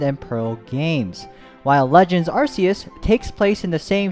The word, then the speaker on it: Arceus: and legend arceus and before any of you guys call me out for pronouncing rc is wrong let's head on over to bulbapedia real quick see this in katakana it says yeah yeah that's right that's freaking right no but seriously arceus